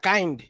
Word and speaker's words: kind: আচ্ছা, মুনতাকিমের একটা ওয়ার্ড খালি একটু মিসপ্রোনাউন্স করছো, সেটা হচ্ছে কিন না কাইন্ড, দয়ালু।